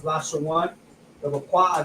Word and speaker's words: Lashawan: This is how you will pronounce it: La, which is the La, the Sha, which is the Sha, and then the Wa and the Na come together, which is pronounced one. Lashawan.